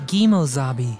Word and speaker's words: kimo sabe: why you you key in reality the term is pronounced guimo zabi and means another person